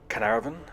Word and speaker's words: Caernarvon: and finance the excavation of Tutankhamun's tomb it's pronounced Caernarfon like that which is easy right so that's